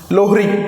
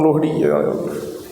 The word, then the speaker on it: Lohri: Lohri. Pardon, the pronunciation is wrong. Lohri.